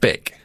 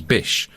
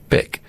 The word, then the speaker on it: Bic: was bish bich but in german it's pronounced bick and he realized very